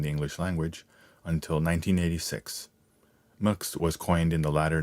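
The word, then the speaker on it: Mx: masculine or feminine enter muks pronounced mooks or mix the term is currently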